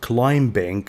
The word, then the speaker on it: climbing: B is silent, not climbing. No, climbing.